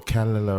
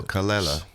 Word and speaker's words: Kelela: Or Kelela or some other shit. No, Kelela. Kelela. Emphasis on the second syllable.